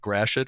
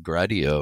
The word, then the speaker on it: Gratiot: did the interview today to make sure i'm pronouncing it right when i say fort gratiot am i saying it more or less correctly